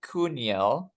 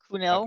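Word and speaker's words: Kuhnel: I have no idea how to say his name, but his name is Joel Cuniel. Kunel.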